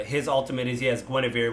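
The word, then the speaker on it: Guenhwyvar: ultimate is he has gwenevere which you had to tell me that's how to say it because uh it's d back in the 80s or the early 90s so they had to spell it with nine other consonants where i was like i don't know how to say that you're like oh it's gwenevere i'm like why couldn't they just write that um yeah but you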